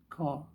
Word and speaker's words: Kerr: Here's a painting by Greg Carr, Kerr, apparently pronounced Carr.